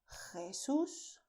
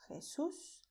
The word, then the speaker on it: Jesús: You have the way of pronouncing with a deep sound with your throat, which is Juan, José, Jesús, Jorge. But you don't have to make this sound if you don't like to. You can pronounce as Juan, José, Jesús, Jorge. Alright?